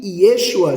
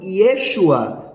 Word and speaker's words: Yeshua: O grego não pronunciava o som de SH do hebraico, que é a letra shim, que tem o som de X para nós no português. No grego, onde havia o som de SH, eles pronunciavam com o som de S. Então, Yeshua passava a ser Yesuá.